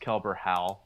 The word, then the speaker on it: Kelbor-Hal: I actually think it's actually pronounced Kelbor-Hal because I think it's supposed to be a reference to Hal.